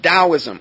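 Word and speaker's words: Taoism: Then we have the concept of dowoism or t a o i s i m is how it's spelled.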